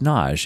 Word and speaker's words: Nagy: naj naj is pronounced naj it is it is spelled n-a-g-y like like nagi or naji but it's pronounced naj i've had many patron